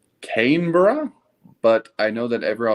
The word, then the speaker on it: Canberra: say this I will never be able to pronounce the name of the capital right I know it's Canberra but I know that everyone else has never